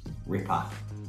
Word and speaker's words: ripper: like this one but you got to say rip up so you almost replace that er with an a and that's like a better phonetic pronunciation ripper bloody ripper exceptional legend